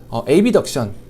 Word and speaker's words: abduction: 그런데 이거를 발음이 좀 비슷하잖아요. 그래서 우리가 부를 때는 abduction 그리고 어덕션 이렇게 나눠서 부릅니다.